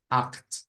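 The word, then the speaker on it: acht: se les olvidó bueno dijimos que se parecía a una g o a una J por ahí dejémosle la g porque la J la usamos para otras cosas Entonces esto es como decir act act entonces en el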